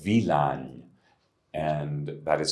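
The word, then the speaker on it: Villány: of for red wines in Hungary uh called VLAN and that is spelled v-i-l-l-a-n-y pronounced vilani and there you have the robust International grape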